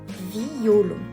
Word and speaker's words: violon: sur le mot violon nous devons le prononcer en trois syllabes distinctes violon observons un deuxième exemple